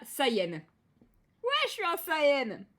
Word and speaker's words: Saiyan: Parce que effectivement, saying, dire, et Saiyan se prononce pratiquement pareil.